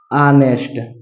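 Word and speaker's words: honest: नेस्ट क्या पढ़ता है ऑनेस्ट ऑनेस्ट पढ़ते हैं तो इसका प्रथम अक्षर क्या है देखिए आ आ रहा है तो आ रहा है तो किसम है अ से अ के बीच में है तो इसका मतलब इसके पहले क्या लगेगा एन लगेगा अगर यही प्रथम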